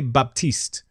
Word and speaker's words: Baptiste: P I would say Baptiste it's kind of a it's kind of almost like a B P combination yeah very soft PEP